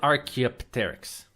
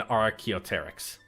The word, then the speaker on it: Archaeopteryx: This is an Archaeopteryx, or this used to be an Archaeopteryx. The P is silent.